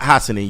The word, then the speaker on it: Hassanin: Ahmad Hassanin.